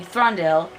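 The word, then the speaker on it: Thranduil: why I'm crying because the elf king throndell is the correct way to pronounce it he is not helpful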